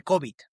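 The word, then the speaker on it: COBIT: marco de gobierno de COVID, del Control Objectives for information Technology. Ya sé que se pronuncia como la pandemia, pero no tiene que ver nada con la pandemia.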